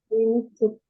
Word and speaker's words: limited: Limited. Yes, limited. Mình đọc là limited nha.